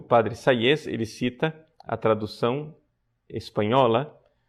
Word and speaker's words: Sayes: Sayes se escreve S-A-Y-E-S.